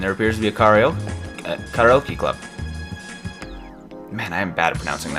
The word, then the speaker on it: karaoke: And there appears to be a karaoke club. Man, I am bad at pronouncing that.